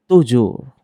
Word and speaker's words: toujours: Toujours. Toujours. Ibig sabihin, always or palagi. Toujours. Napansin nyo na nagtatapos siya sa letter S, hindi siya binibigkas.